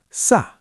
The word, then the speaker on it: sä: Now cena becomes sa and ollette becomes ought.